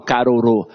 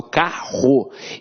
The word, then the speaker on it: carro: Eu tenho um dígrafo Eu não falo caroro eu falo carro então esses dois rs aqui tem um som de R forte Então apesar de ter